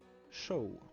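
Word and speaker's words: Seam: Mon nom est prononcé show.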